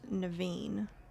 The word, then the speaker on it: Naveen: It's pronounced Naveen.